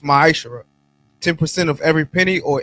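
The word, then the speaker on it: מעשר: Means 10th in the Hebrew and pronounced ma'ashara.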